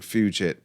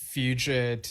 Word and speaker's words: fugit: And I've heard it pronounced both ways, even by a Yes member saying Fugit. Okay, so I just Googled the pronunciation right now. And apparently, apparently it's Fugit in both American and British pronunciation, according to Google.